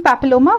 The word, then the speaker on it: papilloma: caused by the human papilloma virus so this word you should know there is there are going to be a pillow mass there will be happy low mass okay so it is